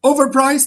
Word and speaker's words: overpriced: Yes, we say overpriced. You relax or you relax in the the third syllable or you say overpriced. Priced. That's the longest vowel here or the longest chunk of the word. So that's is a stressed syllable.